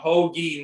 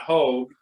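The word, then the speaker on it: Hoge: Let's you're gonna have an apology because I think it's pronounced Tom Hoagie, not Hogue.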